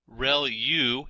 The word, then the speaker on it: ReLU: ReLU is how that is pronounced, and that's the rectified linear unit.